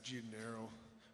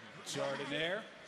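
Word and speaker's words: giardiniera: I gotta go with your guys, Gianero, or whatever, how you guys pronounce that. Jardiniere.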